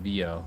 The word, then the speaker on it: Vio: The the Vio series, the the Vio or Vio, sorry, it's pronounced Vio cuz it's Italian.